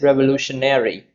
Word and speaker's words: revolutionary: And the adjective of the word revolution is revolutionary, revolutionaries. So they are revolutionary. So how many syllables? One, two, three, four, five. Revolutionaries, and the stress is on the fourth word, which is revolutionaries, and it functions as an adjective.